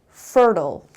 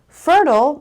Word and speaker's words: fertile: And the last word is fertile. So stress is on the first syllable.